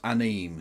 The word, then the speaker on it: anime: Kev says anime is for nerds, but pronounces anime correctly. No, I didn't. See? I did it. I read ahead and understood what I was supposed to do there. Actually, that was one of the funniest elements of Nigel Farage's cameo nonsense. That cameo with him going, me and my G's are on an anim binge. An anim binge. Anim.